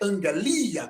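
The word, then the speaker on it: ἀγγελία: angelia que é mensagem Observe que as duas letras de vermelho do seu lado esquerdo são dois Gamas do seu lado direito foi transliterado como MG então a pronúncia dessa palavra é angalia que é mensagem notícia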